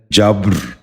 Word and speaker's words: جبر: لفظ ہے جبر۔ یہ غلط تلفظ ہے، درست تلفظ ہے جبر۔ دوبارہ سنیے، جبر۔ بچوں آپ بھی غور سے